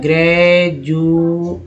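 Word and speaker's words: graduate: अब देखिए एक वर्ड है डी से जो कि ज आ रहा है, ग्रेजुएट, ठीक है ना। क्या उच्चारण किया, डी को यहाँ लिखा गया ज, बढ़ा गया ज, ग्रेजुएट, ग्रेजुअली, ग्रेजुएशन, बहुत सारे वर्ड है।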